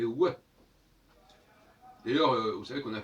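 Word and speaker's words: ו: Dans ce cas-là, le vav ne devrait pas se prononcer vav, mais ouais.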